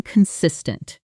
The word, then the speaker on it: consistent: It's being consistent. Showing up prepared and steady. Week after week pronunciation sis tent stress on the second syllable.